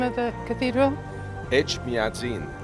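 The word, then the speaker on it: Etchmiadzin: Echmiadzin. Echmiadzin.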